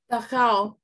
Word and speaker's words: Dachau: Rebecca said, Rebecca, how do I pronounce that? Dachau? Dachau.